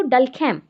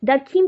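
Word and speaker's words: Durkheim: है so according to डल कम spelling देखना डल कीम भी बो सॉरी डरकम भी बोल सकते हो डल कीम बोल दिया डरकम है तो डरकम का देखो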